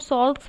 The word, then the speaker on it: Salk: For example, in Salk's vaccine, you have studied about Salk's vaccine, SAL, where L is silent.